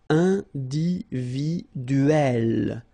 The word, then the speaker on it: individuelle: So remember when you get this e and then double consonant, and especially here it's the same one, that's the idea. It will open the sound of e, so you will pronounce it like é.